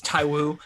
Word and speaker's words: Tywu: God damn it, it's Tywu. Cool. I think it's just the 2 syllables and it ends in an oo.